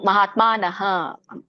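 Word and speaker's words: ಮಹಾತ್ಮಾನಃ: ಮಾತಾಜಿ ಇದು ಮಹಾತ್ಮನಹ ಅಲ್ಲಿ ಹ ಯಾವಾಗಲೂ ವಿಸರ್ಗದ ಉಚ್ಚಾರಣೆ ಹ ಆಗಿರುತ್ತೆ ಅಲ್ಲಿ ಸ್ವರ ಸ್ವರ ಅ ಇದ್ರೆ ಹ ಬರುತ್ತೆ ಸ್ವರ ಹೇಗಿರುತ್ತೋ ಹಾಗೇನೆ ಹ ಉಚ್ಚಾರಣೆ ಆಗುತ್ತೆ ಸ್ವರ ಅ ಇದ್ರೆ ಹ ಉಚ್ಚಾರಣೆ ಆಗುತ್ತೆ ಅಲ್ಲ ಇಲ್ಲಿ ನೋಡಿ ಮಹಾತ್ಮಾನಹ ಆಮೇಲೆ ಕೊನೆಗೆ ಗತಾಹ ಮಹಾತ್ಮಾನಹಗತ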